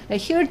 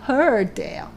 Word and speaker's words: heard: 눈으로 활자로만 공부하시다 보니까 정말 그 철자대로 발음하는 거에 여러분이 익숙해져서 발음 잘못하고 계시는 경우들이 정말 많이 있거든요. heard 아닙니다. heard예요.